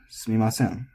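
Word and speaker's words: すみません: And unlike here, where the u gets deleted, in order to pronounce this, you have to be using your vocal cords. So there is something to drop to. So it is always said sumimasen.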